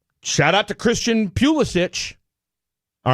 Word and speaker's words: Pulisic: Shout out to Christian Pulisic.